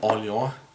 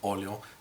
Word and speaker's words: Orléans: I'm back again with another expansion overview, and today I would like to show you Orléans Invasion, or Orléans Invasion if we pronounce it English.